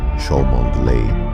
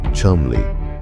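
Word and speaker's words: Cholmondeley: Eu Montagu e Charles Shmondley. Pronuncia-se Chumley.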